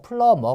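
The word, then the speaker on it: plumber: 배관공 이잖아요 그죠 그래서 비는 묵음 입니다 소리가 안나요 그래서 플러머 가 됩니다 뭔가를 막 풀르고 있어요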